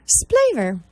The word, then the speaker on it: Splaver: Splaver. Yep. S-P-L-A-V-E-R. Splaver. Okay. Now, say that one more time, just in case somebody's trying to write this down. Dr. Splaver. S-P-L-A-V-E-R. Rhymes with flavor.